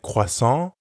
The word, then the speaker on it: croissant: or more than one you can hear that the pronunciation of kut and kwasan doesn't change let's hear it again for one croissant and for more than one here ends in e-n-t and croissant ends in s but we don't pronounce those letters at the end which we know sometimes happens in french the only way to